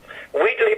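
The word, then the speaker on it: Wheatley: way who's the publisher weedly press we weekly spell it please w h e a t l e y oh like wheat wheat it's it's it's sort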